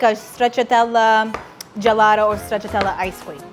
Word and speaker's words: stracciatella: So now it's time to make the second frosting and that is stracciatella whipped cream. We have to check the pronunciation.